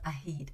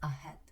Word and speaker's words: ahead: Guys, this word has an EA, but it's not pronounced as E. So it's not ahid, it's ahead.